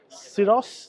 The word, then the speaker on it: Syros: This is Syros, that's how they pronounce it. I'm Cyrus.